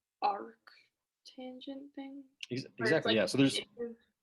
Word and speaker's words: arctangent: tangent to solve for theta gallery except like arc tangent thing exactly yeah so there's yeah so there's